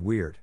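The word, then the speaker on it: wyrd: the old English word weird pronounced like weird but round your lips on the vowel which meant fate Fates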